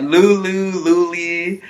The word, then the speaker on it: Lule: Like, Lule. Like, oh man, it's Lule.